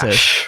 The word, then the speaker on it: FACS: Pronounced fash for some reason.